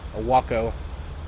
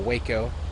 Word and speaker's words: Waco: Probably a Waco, or Waco, whichever way you want to pronounce that.